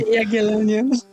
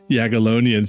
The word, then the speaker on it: Jagiellonian: at Yag How do I pronounce that university name? Jagiellonian. Jagiellonian, thank you so much, University in Krakow, Poland.